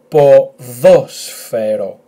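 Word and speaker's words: ποδόσφαιρο: The emphasis on this omicron, so it's at the second syllable. So let's try. It's a long word, I know. Po dho sfero, po dho sfero, po dho sfero, which means football.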